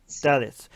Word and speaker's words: Dalits: How do you pronounce the lower caste? Dalits.